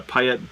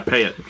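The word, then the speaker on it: Payette: drinking beer and we were like man uh payet payet brewing um kind of a big one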